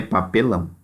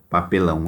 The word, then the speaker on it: papelão: tônica é diferente, é papelão. Então, vocês copiem a palavra papelão aqui. A sílaba tônica dela é a última. Então, ela é o quê? Oxítona.